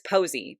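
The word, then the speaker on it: Posea: But it's Posie, but like Posy, like Sea, like the C.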